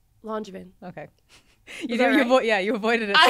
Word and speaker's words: Langevin: Langevin.